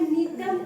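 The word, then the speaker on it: Gnetum: है जिसका नाम है नीटम उला। देखो पौधे का नाम है अभी। कितना सुंदर नाम है। बोलो नीटम उला। ठीक है? नीटम की स्पेलिंग जी से शुरू होती है। जेिटम नहीं बोलना।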